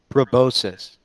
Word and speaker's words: proboscis: It's pronounced proboscis. Proboscis. Proboscis. So now we're gonna say proboscis. Robuscus. No, it's proboscis now. Okay, proboscis.